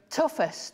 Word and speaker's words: toughest: Toughest. Toughest. Like with an F.